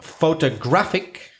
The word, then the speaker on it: photographic: So let's go on with penultimate stress, which is words that have more than 2 syllables in which the second syllable from the end is stressed. Any examples? Yep, photographic. Mm-hmm. So the penultimate photographic is stressed.